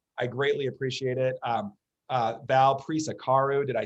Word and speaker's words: Prisecaru: Val Prisecaru, did I say?